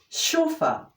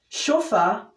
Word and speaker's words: chauffeur: drive a private car is called a chauffeur sofa sofa is spelled sofa see H a u F f